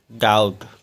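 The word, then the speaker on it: doubt: तो उसको पढ़ेंगे डेट अगला है डीओ यू बी टी टी से पहले बी आया तो बी साइलेंट है इसको पढ़ेंगे डाउट अगला है एस यू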